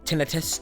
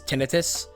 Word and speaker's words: tinnitus: pretty bad uh uh tinnitus tinnitus people people say that like the proper way to say it is tinnitus when I say tinnitus because that just makes more sense to me and I got that